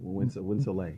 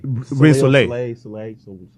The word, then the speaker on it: WindSoleil: Did I pronounce it correctly? You did. WindSoleil. WindSoleil. Yeah.